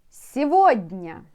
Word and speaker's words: сегодня: And I want you to know that you are spelling this word differently, but pronounce it, of course, differently. So, се, you see? Do you know? Do you remember what I like to do with the long words? Divide it on some small words, let's say. Сегодня. Се, С-Е, се. Го, Г-О, го.